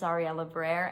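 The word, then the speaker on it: Ariela Barer: And the actress here is Ariella Barrer. I hope I pronounce it correctly. My name is Ariella Barrer.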